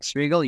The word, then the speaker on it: Svigel: Yeah, my name is Svigel.